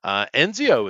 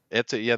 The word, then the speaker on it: Ezio: Enzio is coming back. Enzio, the original hero. Ezio. That one. Ezio. Whatever. It's spelled with an E, N, and a Z-O.